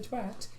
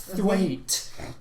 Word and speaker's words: Thwaite: Twat, It's Thwaite. It's pronounced Thwaite. Well, it's spelled twat. So T-W-A-T.